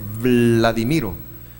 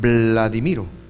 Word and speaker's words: Vladimiro: Para nosotros no es perceptible, porque yo me llamo Vladimiro, así se pronuncia, Vladimiro, pero normalmente me dicen Vladimiro.